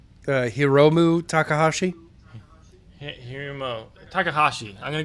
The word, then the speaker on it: Hiromu: they're going to go with Himuro. It's Hiro. How do you say his name? Hold on. Hiromu Takahashi.